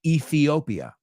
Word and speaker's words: Ethiopia: it's a country but we don't pronounce you say EOP I don't even know how you say it inter we say Ethiopia so that Ethiopia and